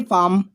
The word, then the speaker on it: palm: Next example है फार्म। आप यहाँ देख पा रहे होंगे PA और यहाँ M। आप समझ पा रहे होंगे मैंने थोड़ा सा स्पेस छोड़ा हुआ है, किसके लिए? वो है एल के लिए, बिकॉज एल यहाँ साइलेंट होने वाला।